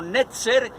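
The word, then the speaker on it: נצר: palabra nazareno, obviamente, y esa palabra se pronuncia más o menos como netzer y significa retoño.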